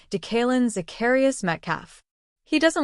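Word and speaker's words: DeKaylin: He has told Steelers Audio Network play-by-play announcer Rob King that he prefers Decalen but understands many do not pronounce it correctly, so he instead goes by DK.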